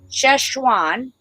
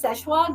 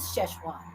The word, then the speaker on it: Sichuan: to say it wrong no you say right cheshwan it's actually that's actually the proper way to say it's we say it's szechuan but it is sichuan that's you're very good i'm very good because